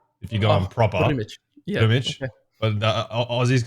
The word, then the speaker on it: Drmic: I really didn't want to pronounce the name wrong. Drmic? Yeah, Drmic. Drmic, yes.